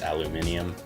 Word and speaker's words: aluminium: handy dandy construction manual that's how you say it with British pronunciation because this is aluminium okay whole kit packing